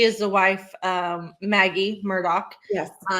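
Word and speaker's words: Murdaugh: Yeah, it's pronounced Murdoch, but it's not spelled that way.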